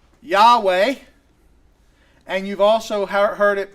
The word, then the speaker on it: Yahweh: It is a four-letter word, Yod He Vod He, and those four letters we think would most properly be pronounced Yahweh or Yahweh, right? Yod He Vod He.